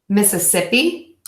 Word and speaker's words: Mississippi: You had to miss a sip, which is exactly the same as saying this. Missa sip e. Mississippi.